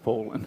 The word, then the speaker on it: Phelan: Stan is playing Stephen Phelan, so... I don't want to get into this again, but I believe it's pronounced Folan.